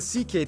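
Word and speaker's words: Székely: Then we get to the CK people, the second most populous minority. Yes, that's how you pronounce it, CK.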